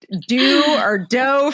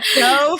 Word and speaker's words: Deux: So Sabeena Ladha, who is the founder and CEO of, depending on how you pronounce it, Dough Foods. Dough Foods for sure, but spelled kind of like